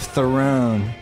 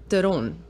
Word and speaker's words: Theron: I mean, look, the bottom line is the real pronunciation of my name is so far off from both of those. What is it? It's Theron. Oh. Yeah. The South African pronunciation.